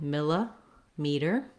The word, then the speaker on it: millimeter: a meter millimeter um you can also break it miller meter whatever way helps you get those correct vowel sounds and rhythm is going to be great then in american english this t sounds a little more like a d it's a flap it's